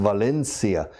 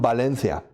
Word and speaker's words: Valencia: And it's interesting, they say, I am from Valencia. And say, no, Valencia. Eso, Valencia. I said, no, Valencia. And then I ask, by the way, do you speak Valencian? Yes. How do you say Valencia in Valenciano? I said, Valencia. And I say, okay, well, when you speak English, say Valencia in Valencian, and it's correct. It's like people from Barcelona.